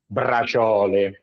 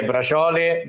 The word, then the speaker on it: braciole: For the braciole. Don't worry, the braciole, they're going to be so easy, faster.